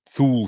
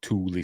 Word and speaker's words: Thule: being members of the Thule Society or Thule Society, however you want to pronounce it. Because they wanted to discover, the secrets of, Ultima Thule or Thule. I've heard it pronounced both ways.